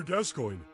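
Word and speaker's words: Gascoigne: does a lot of damage but actually it's pronounced father gascoin you chat to Middle uh Thor God thanks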